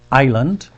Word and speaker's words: island: word is two syllable island island and you can see here that it's not phonetically correct it looks like ice island island but we don't say Island we say Island in English and so